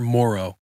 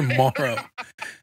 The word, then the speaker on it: Moreau: we want to make sure people know that it's Morrow and you that's you really think you really think the podcast is going to change the Outlook of the way my last name's pronounced you're damn right dude like well I'll go I'll lean in hard this week on social media that is Morrow hey I just want